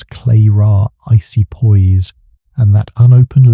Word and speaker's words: Clara: Victor Lang's pronounce Lang slippery denials and serpent cufflinks nagged at me, as did Clara Hargrove's pronounce clay ra icy poise and that unopened letter to Lang.